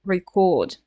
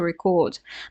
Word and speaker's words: record: pronounce it as to record right the stress is on the second syllable to record but if that's a noun can we guess yeah the stress is on the first syllable a record right so word stress